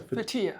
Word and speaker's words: Fethiye: Fethiye.